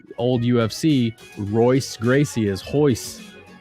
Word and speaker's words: Royce Gracie: you spell it because in brazilian portuguese the r is a huh sound that's why like old ufc royce gracie is hois hois gracie you never know wow